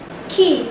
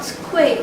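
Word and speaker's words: Kyiv: Key, not Kuwait. We have to pay attention to some words that are not pronounced the way they are spelled.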